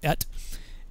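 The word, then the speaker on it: את: So we call one of the guys at our Bible studies, he calls it the Et Watch, because that's how you pronounce the Aleph Tav, is Et.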